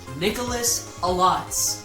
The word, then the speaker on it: Nikkalotz: It's pronounced Nikkalotz.